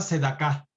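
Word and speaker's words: צדקה: dar alimento, o dar tiempo, se le llama sedaká. Sedaká se escribe empieza con tzadi.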